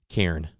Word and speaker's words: Cairn: Cairn. It's like a redneck version of Kane.